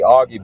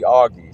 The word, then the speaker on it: Augie: First name, friends call me Augie because it's pronounced Augustine.